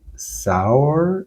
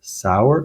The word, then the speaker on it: Saor: sa a o r I'm going to say sour sour like the word sour or maybe it's seor